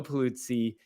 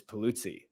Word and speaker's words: Pulizzi: Today, we have with us Joe Pulizzi.